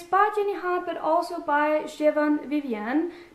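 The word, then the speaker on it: Siobhan: jennyan but also by Javan Vivian did I say that right because I didn't earlier and now I've learned people have told me how to pronounce a name Shivan Vivian yes anyway I picked this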